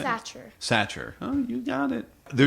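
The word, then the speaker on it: Sachar: Satcher.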